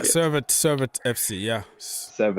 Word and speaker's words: Servette: against seret FC s how you say it seret yeah Ser it Ser it FC yeah